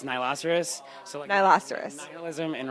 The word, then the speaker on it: Nihiloceros: it the first time you're good forever it's Nilo Souris so I last iris in rhinoceros if it